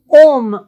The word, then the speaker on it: homme: Dans la langue française, cette lettre ne se prononce pas. Homme, on ne doit pas dire homme. Héros, on ne doit pas dire héros.